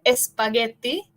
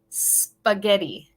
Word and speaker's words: spaghetti: And number three, we don't want to say spaghetti. In English, we would say spaghetti.